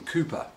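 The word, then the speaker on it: Cowper: known as william calper although he liked to be known as william cooper so locally if you say william calvi you're in real trouble you have to say cooper but it's his name's now it's spelt calpers so what the heck now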